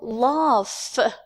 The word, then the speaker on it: laugh: Whereas the word laugh, the F is voiceless.